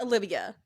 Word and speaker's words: Aliviyah: pronounced as Olivia.